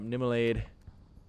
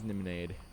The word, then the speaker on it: Niminade: Is it Nimelade? It's like Niminade, right? Niminade? Yeah, it's Niminade. I cannot pronounce anything today. Oh, I guess that isn't an L. You are right. It does look like an L at times, but I guess it is Niminade.